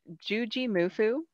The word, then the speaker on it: Juji Mufu: Juji Mufu. I'm assuming that's how he says the Mufu part of it, but he does go by Juji.